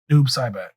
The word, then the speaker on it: Noob Saibot: How do you pronounce his name? Noob Saibot.